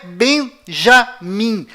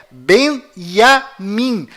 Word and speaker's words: Binyamin: é tchau além disso não é bem já mim a pronúncia correta é benjamin pois lembre-se até hoje não existe em hebraico nenhuma letra com som dj confira é bem a mim